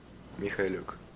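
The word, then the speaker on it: Mykhailiuk: If you want to know his pronunciation, by the way, this is how he pronounces his name. It's like Sviatoslav Mikhailuk.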